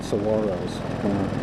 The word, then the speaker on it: saguaro: Well, those cactuses, they're called saguaros. They have a G in there, but the G is kind of pronounced like a W. It's saguaro cactus, and there's a lot of those around here.